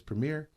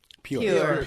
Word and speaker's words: Pure: You say her name is Premier? Pure. Her name is Pure.